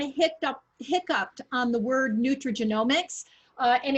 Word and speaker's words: nutrigenomics: And it's interesting that you kind of hiccuped on the word nutrigenomics.